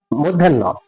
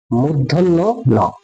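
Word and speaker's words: মূর্ধন্য ণ: দন্তন দন্তন আবার এই বর্ণটিকে আমি বলতাম আগে মধ্যন্য মধ্যান্য আসলে এই বর্ণ সঠিক উচ্চারণ হচ্ছে মুধন্য নধন্য ন আর এখন যে বর্ণটি দেখতে পাচ্ছেন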